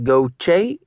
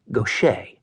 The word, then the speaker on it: Gautier: Gochce. He always mispronounced Nick's last name. He said it goch instead of the correct gocher.